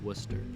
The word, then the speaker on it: Worcester: behind some trash cars notice how I pronounced it Worcester I really hoped that